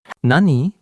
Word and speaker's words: 何: এটি হলো একটি গিমনসি মানে কোয়েশ্চেন ওয়ার্ড বা প্রশ্নবোধক শব্দ, কিন্তু এর দুটি উচ্চারণ আছে এবং কোনটা ব্যবহার হবে তা বাক্যের উপর নির্ভর করে। নানি ব্যবহার স্বাধীনভাবে কি জিজ্ঞাসা